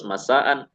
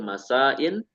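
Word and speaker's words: مساءً: mansub dalam mirab jadi Mbak Habibah membacanya harus masaan tidak boleh masain tidak boleh masaun ya contoh n Az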